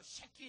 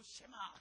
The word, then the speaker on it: 쉐마: 쉐키 이러면 안 되고 쉐마 이렇게.